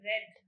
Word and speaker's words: read: milk it was wrong the pronunciation for read uh she was saying it's read in the second form it is called red moreover uh when you